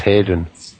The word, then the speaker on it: Haydon: my surname now, my father changed it years ago, but my surname now is Haydon, but pronounced Hayden. Although it's spelt with an O, it's pronounced with an E.